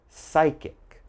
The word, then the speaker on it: psychic: So all right, if you ever see these words in something you're reading, just remember there's a silent P when the word begins with P and is followed by a consonant.